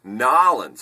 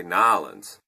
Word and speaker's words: New Orleans: It's not New Orleans. You can sometimes get away with New Orleans, but they say Nolans.